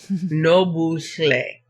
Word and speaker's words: Nobuhle: Nobuhle is phonetically pronounced exactly as you see the letters, which means don't ignore the H. It needs to be pronounced. Nobuhle. And all you're doing is just blowing that H out while you're saying the L.